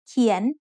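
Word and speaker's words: เขียน: เ ข ี ย น is said with a rising tone because it has a high-class consonant and a live syllable ending.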